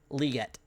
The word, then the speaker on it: Legette: but yeah I think Legette or liette how does he pronounce it again liette liette okay I think liette